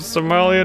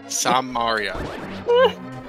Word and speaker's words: Samaria: You bring the cane of Somalia to my lair. Die. Somalia. Sumaria. Samaria.